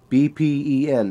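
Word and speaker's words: เป็น: Kun which is U then there's Ben bpen in English phonetics if you can't pronounce the b and the P sound think of it as a very explosive B pen con which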